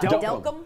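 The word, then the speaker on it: Delcambre: It looks like Del Cambre. Yeah. Delcom. Delcom. So we got like 3 or 4 letters at the end that we're just kind of trashing.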